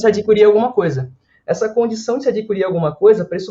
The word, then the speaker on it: Say: do verbo dizer em inglês mas não é sei essa terra para que se trata de um economista economista francês do século 19 Então se pronuncia essa embora que não seja o presentão Henrique você